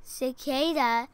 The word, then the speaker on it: cicada: what he is now it starts with a soft C thus this and the second one's a hard one sick sick bag okay cicade cicada has six legs all